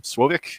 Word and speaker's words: Slowik: who am i uh my name is sloick swovik if you actually pronounce it properly in polish as opposed to how uh pronounce it in the united states but uh currently i